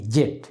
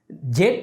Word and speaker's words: Z: pronunciation কি জি নাকি জেড ওকে হীরা এই প্রশ্নটির উত্তর খুবই সহজ জেড উচ্চারণ করে ব্রিটিশরা আর আমেরিকানরা উচ্চারণ করে জি তবে এই জেড এবং